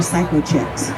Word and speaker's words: Cykochik: is it called psychoi well it's spelled c y k o c h i k so it's not Psy you know psycho maybe a little bit but I'm